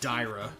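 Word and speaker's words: Daira: hey this guy uh i was pronouncing it darya yesterday uh but i think it's actually dyra so i'm sure somebody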